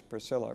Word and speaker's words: Priscilla: Of course, the diminutive form of the name is used in Acts, Priscilla, Priscilla. It's a hard C in the Greek. In other words, it's a kappa.